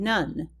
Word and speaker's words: none: or short O sound, and none, which also has the magic E at the end with not a long O sound.